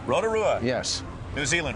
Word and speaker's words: Rotorua: little town is it is it rorer is it close am I right did I pronounce that right not very very close but your way off it's Rotorua Rotorua yes New Zealand right